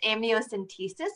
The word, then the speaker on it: amniocentesis: it's a great question i uh so the pronunciation is amniocentesis which is an invasive procedure um but it